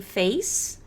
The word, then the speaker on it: face: Depois do new, a gente tem face. Presta atenção na pronúncia. Face. É igual falar ele fez aquilo ontem. Fez. Mas é assim mesmo. Face é face.